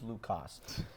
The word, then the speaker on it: Luke Koss: but we should go forward by pronouncing his name with a K in it because he spells it with a K and not a C. It's Luke Koss.